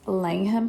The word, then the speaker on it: Langham: the chef movies they featured it it's actually pronounced Langham Hotel it's walkable to your favorite pubs restaurants